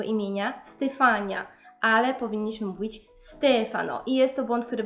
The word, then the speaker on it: Stefano: podejrzana to Słuchajcie dalej najczęstszy błąd dotyczy właśnie tych imion No i zamiast mówić Stefano powinniśmy mówić Stefano ten Akcent nad a dopiero pojawi się w żeńskiej